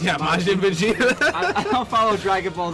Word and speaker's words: Majin Vegeta: Is that how it's pronounced? Yeah, Majin Vegeta.